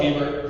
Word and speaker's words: Hebert: That's spelled Hebert, pronounced Hebert.